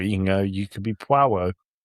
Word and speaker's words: Poirot: Poirot? Poirot. Like it's got a W in it. Poirot.